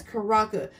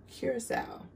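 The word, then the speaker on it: curaçao: your blue curacao now a lot of people like to call this karaka this is not karaka that word is pronounced curacao and i mostly always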